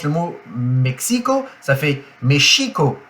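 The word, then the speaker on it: México: sont tirés en arrière on laisse derrière les les grosses molires on laisse passer l'air et ça fait Mexico Mexico chez nous c'est Mexico chez c'est Mexico donc voilà la petite différence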